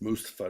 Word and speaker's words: Mustafa Ali: announcer all of them said Mustafa Ali's name wrong Mustafa it's Mustafa now yeah but that's what